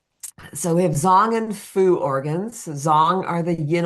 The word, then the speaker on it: fu: Zong are the yin organs, and fu are the yang organ. And it's like fu and food because they are the digestive organs. We have yang and fu, F-U, but I'm sorry.